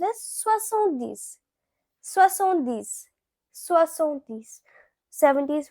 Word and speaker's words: soixante-dix: Now 70, it is pronounced as soixante-dix.